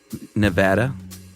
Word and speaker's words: Nevada: a bumper sticker on how to pronounce Nevada. Nevada. I'll never get used to that. It's not right. It is right, but I tell everyone that writes in, only people from Nevada say it that way.